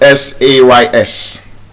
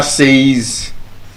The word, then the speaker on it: says: The same applies to the word S-A-Y-S. We would say says. The teacher says. But the correct pronunciation should be says.